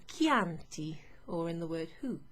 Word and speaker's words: Chianti: sound but you also have an h c in an h is always a k okay like in chianti or in the word